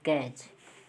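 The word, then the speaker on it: catch: कोई भी वर्ड हो, टी के बाद अगर सी एच है तो टी को साइलेंट, जैसे कैच, फैच, ठीक है, मैच, ठीक है, वाच। देखिए हम टी को नहीं पढ़ रहे हैं, ठीक है, डायरेक्ट वाच पढ़ रहे हैं, ठीक है, मैच पढ़ रहे हैं, एम ए और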